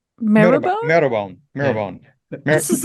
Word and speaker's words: Marylebone: Maryland, but marrowbone. Marrowbone? Marylebone.